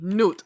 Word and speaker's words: Nut: did this he lifted nut into the air and this is how the physical world was created okay okay okay say it with me n Nut N like the animal anyway is so anyways